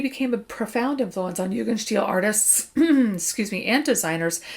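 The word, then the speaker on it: Jugendstil: vienna secession in 1900 again guys influence of yugan steel it literally means youth style it is the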